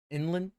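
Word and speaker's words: Yinlin: I didn't understand that that's how you pronounce her name is England Inland Inland it's weird okay I'm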